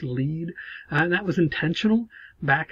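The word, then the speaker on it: lede: the lead which again sometimes is spelled l-e-d-e but it's still pronounced lead and that was intentional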